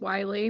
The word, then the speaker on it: Willey: It's Wiley, but it looks Wiley. like it's spelled Willie.